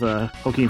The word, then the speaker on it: Joaquin: I saw like Napoleon movie that like came out with Joaquin Phoenix in it. It was all right. How did you pronounce his name?